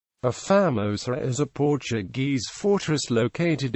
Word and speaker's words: A Famosa: The name is often mispronounced, Famosa, even among Malaysians, as though the Portuguese definite article A were the English letter A. A more authentic pronunciation would be Famosa.